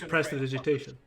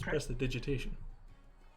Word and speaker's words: prestidigitation: That is how you pronounce it. It's prestidigitation. The prestidigitation. That is it. It's prestidigitation.